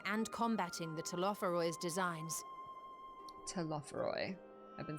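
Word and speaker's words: Telophoroi: Telophoroy.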